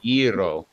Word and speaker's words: gyro: now listen to this so it kind of sounds like euro but it's euro yeah roll they are which most